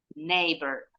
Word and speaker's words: neighbor: Ya next number nebor neighbor samasama nebor dengan American English hanya diellingnya aja pengucapannya sama in British English nah